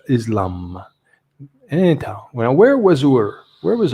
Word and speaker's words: Islam: that islam now islam here you say it's spelled islam but we say in english islam where was ur where